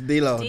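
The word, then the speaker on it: D'Lo: It's Delo.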